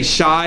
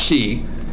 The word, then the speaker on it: Shi: most people might say shy its Shi but it's actually pronounced she and they're actually gonna